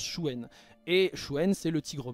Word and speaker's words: Xuen: nord nous avons Chuen ça se prononce Chuen je sais que souvent se prononce xuen vous pouvez tout à fait dire xuen il y a pas de problème mais ça se prononce Chuen et Chouen c'est le